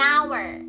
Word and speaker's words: hour: An hour. An hour ini kan pakai H. Itu karena pengucapannya tuh an hour. Jadi pakai A bukan pakai H. Bukan an hour tapi an hour.